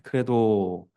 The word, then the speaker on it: Credo: 네, 크레도라는 문장입니다. 라틴어로 크레도라고 쓰고 이렇게 발음합니다.